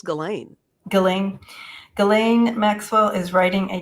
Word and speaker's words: Ghislaine: I think it's Ghislaine.